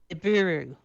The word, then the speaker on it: Nibiru: will tell you that this world is called nibiru pronounce that wrong n i b i r u so i mean if